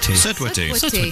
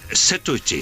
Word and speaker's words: Sut wyt ti: Sutwitty. No, it's Sut wyt ti? Setwitty. Sit or sut?